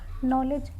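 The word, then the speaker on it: knowledge: के से के और एन अगर कोई वर्ड शुरू हो रहा है के और एन से तो हमारा के यहाँ पे साइलेंट होता है।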